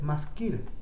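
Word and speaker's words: מזכיר: Entonces, en hebreo, si yo escribo secretario, es decir, masculino, se dice maskir.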